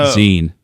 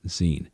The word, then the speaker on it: zine: We're going to talk about zines, the good, the bad, the ugly, Zymo, whatever they're calling it. We're going to Zine. It's pronounced zine.